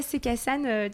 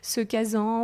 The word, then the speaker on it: Se Casan: Alors déjà, Sekassan, déjà tu le prononces très bien parce que des fois j'entends Sekazan ou on ne sait pas toujours le prononcer.